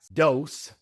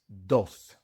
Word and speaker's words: dos: It is not dos. It is dos. The v in no is pronounced like a b in English.